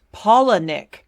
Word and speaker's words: Palahniuk: For men, if you're not super into genre fiction, you basically have Chuck Palahniuk. Is that how you pronounce it? I need to Google how to pronounce his name. It's pronounced Palahniuk.